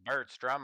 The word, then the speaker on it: Bertstrum: We find out we've been pronouncing his name wrong. Birdstrom. That's the first thing he tells us. He's like I am not my my name is Bertstrum.